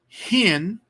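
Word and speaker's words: ἕν: you have two smooth rough rough breathing you give the word an H sound at the beginning smooth breathing you don't pronounce it so hen is one versus in which is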